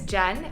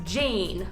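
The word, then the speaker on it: Jain: is spelled j-a-i-n so you would think it's pronounced jane like pain but it's actually pronounced jen as if it were like jennifer and that's because it is a hindi word um i am indian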